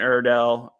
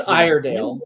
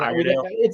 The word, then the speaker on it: Iredale: Brent Iredell, he just continuing success there. But that Friday game, it's Iredale, but again, Iredale. he's Australian, so who knows how they pronounce it.